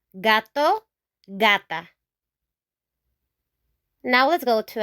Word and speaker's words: gato: So if after our G, we have a vowel, these vowels, A, O, U, then we're gonna pronounce the G as G, G, G.